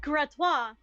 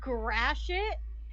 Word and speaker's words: Gratiot: second, and he goes, you mean Gratiot? And she just looked so scandalized. She's like, it's pronounced Gratois. And he goes, listen, I don't know how y'all pronounce it in France, but here in Michigan, where the road actually is, it's Gratiot.